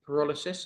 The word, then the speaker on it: pyrolysis: technologies such as incineration, anaerobic digestion, gasification, or pyrolysis, if I pronounce that correctly.